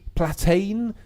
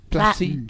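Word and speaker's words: Platten: She's got a lot of fight left in her, and that was, I've mispronounced it, Rachel Platane? Platin, surely. Platin.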